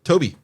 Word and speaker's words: Tobe: But it says it's pronounced That like sounds Toby.